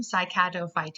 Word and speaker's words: Cycadophyta: And the way you pronounce it is there at the bottom, Cycadophyta.